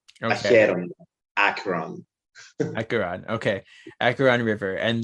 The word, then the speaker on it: Acheron: Acheron.